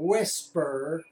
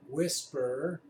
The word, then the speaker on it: WSPR: to the screen anyway the mode is called whisper ws PR whisper so we pronounce it in amateur radio thought you'd find